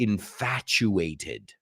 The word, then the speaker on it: infatuated: word is to be infatuated okay and this is a word that has this t u in the center which As We Know sounds like a CH oice isn't that a